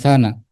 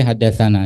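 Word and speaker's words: حدثنا: Jadi di sini dikatakan tsana kita bacanya bukan tsana tapi hadasana.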